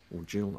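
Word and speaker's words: gill: Jill, I should say, because I've been done for mispronouncing it.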